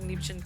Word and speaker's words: Liebchen: You are pronouncing Liebchen correctly.